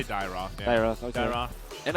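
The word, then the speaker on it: Dyrroth: Not gonna be surprised if that is how do you pronounce that actually? Dyroth? I say Dyroth.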